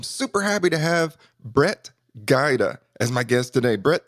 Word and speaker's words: Gajda: it right so I know you said it's pronounced Qaeda but it's spelled with G aj da correct